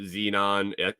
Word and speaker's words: xenon: they've discovered Xenon Xenon the the periodical element xenon x e XE is the symbol it's spelled x n o n it's kind of